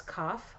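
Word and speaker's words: kaph: that letter down there that's cough i think that's how you say it k-a-p-h and it uh it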